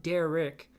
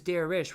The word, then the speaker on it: Derich: My name is not Derich. My name is Derich with an H at the end.